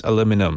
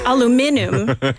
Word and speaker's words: aluminum: how do you pronounce aluminum is it aluminium that's British aluminium American is aluminum right and Canadians also